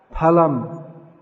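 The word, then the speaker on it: फलम्: Yeah, correct Sanskrit pronunciation where we see PH is pa. Palam.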